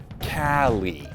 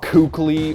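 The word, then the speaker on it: KQLY: and by the way everyone in the french scene including the player in question pronounces it cali it's not cookley or cuckly or whatever the hell i keep reading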